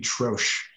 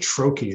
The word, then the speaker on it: troche: troche just annoys me it's a french word it should be trosh and here in the us we pronounce it troche and it just bugs